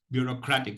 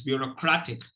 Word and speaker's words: bureaucratic: could be pronounced as bureaucratic. So you're not supposed to sound autocratic. Okay, but this is the standardized pronunciation. That's what I'm trying to impress upon you. So it's bureaucratic.